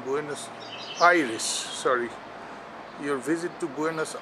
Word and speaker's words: Buenos Aires: your visit to Buenos Iris AIS is the correct pronunciation buenus Iris sorry your visit to